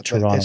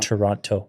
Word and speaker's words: Toronto: It's Toronto, not Toronto. The second T is silent.